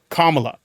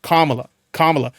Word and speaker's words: Kamala: my ass for mispronouncing Kamala. I'm trying my best to get it right. I'm trying to train myself. Kamala. Not Kamala. Kamala.